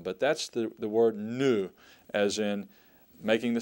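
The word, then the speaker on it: nu: next one the next letter is n n new and it makes the sound of as a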